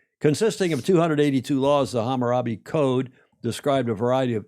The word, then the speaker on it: Hammurabi: Didn't I pronounce that right? Hammurabi. Yeah. Hammurabi. Did I say by Hammarabi?